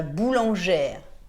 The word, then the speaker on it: boulangère: du pain chez la boulangère et dans ce cas on prononce le r le e de la